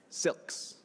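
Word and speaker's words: Syilx: Jennifer Lewis is, how do you say Silks? Silks, like that.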